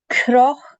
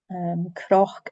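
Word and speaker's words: cnoc: Croch, and you want to pronounce it with a CR rather than a CN. And before you say the K at the end, you need to breathe out. So it's Croch.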